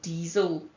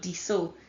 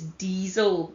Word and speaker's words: diesel: It's like it's the word die, DIE, and then cell, but it's pronounced diesel. And the S is pronounced like a Z. It's not diesel, it's diesel.